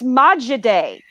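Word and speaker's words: マジで: go Chinese no oh you're Japanese Japanese it's Maja day like if you're talking with somebody and they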